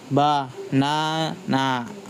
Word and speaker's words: banana: That equals like banana. Main stress on the second syllables.